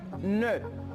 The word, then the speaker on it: nœud: On a le OE. Ça se prononce E. Par exemple, je dis un nœud. Un nœud ou un œuf.